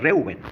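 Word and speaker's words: רְאוּבֵן: Bueno, acá, ahí, por ejemplo, está en hebreo, para aquellos que quieran pronunciar Reuben, ¿sí? Reuben, porque esta es una fonética del hebreo y tranquilamente podemos nombrarlo como está escrito.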